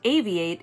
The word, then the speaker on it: AVI-8: it founded in 2012 avi 8 pronounced aviate is a fairly young